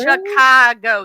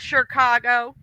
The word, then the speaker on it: Chicago: I'm like, mama, it's Chicago. There's no R. Sho. She goes, Chicago.